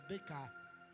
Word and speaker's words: Descartes: por nome Renê DK se escreve Descartes mas é DC e esse homem filósofo